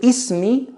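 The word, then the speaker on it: اسمي: Khalid says, Ismi Khalid. The word Ismi consists of two words. The word Ism, which means name, and an attached ya, which makes an E sound, which means my.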